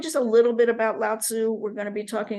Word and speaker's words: Lao Tzu: Lao Tzu is another way. I'm going to be saying Lao Tzu. That's just the way that I got taught it a long time ago.